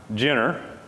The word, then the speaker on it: Ciner: group and the sea and Turkey is pronounced like our J so Jenner Wyoming is a natural